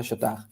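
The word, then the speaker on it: Chautard: de todo apostolado de Don Shot shurt se escribe pero se pronuncia Shot vale ese autor Don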